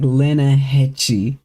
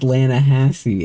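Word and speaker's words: Lannahechee: He pronounces it like Lenahechi or Lenahachi. And Arthur clarifies that no, it's pronounced Lanahassee. And he's like, English is fucking stupid.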